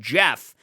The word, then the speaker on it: Geoff: It needs to have Geo, because the O is silent in these names. You have to remember the formula with Geoff is G-E-O and then the familiar F-F at the end.